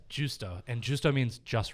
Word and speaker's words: Giusto: Not Gusto, Gusto, Guisto. So yeah, it's Giusto.